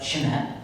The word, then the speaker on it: Chemet: So I just looked up Chemet, that's how you pronounce it, and they are certified by LBMA Good Delivery numerous times.